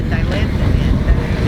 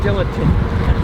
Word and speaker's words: Dilantin: But I knew about the Dilantin. Yeah, because my parents used to pronounce it dilatant.